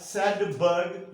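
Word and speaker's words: Svedberg: S का मतलब है सैडबर्ग यूनिट, वी नहीं प्रोनाउंस करना, इसलिए मैंने कहा सैडबर्ग यूनिट, ठीक है।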